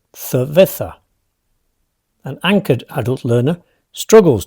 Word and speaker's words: cerveza: In the north, locals speak with distinción, making a crisp difference between the S sound and the soft C or Z, like the English th. Think of the word cerveza.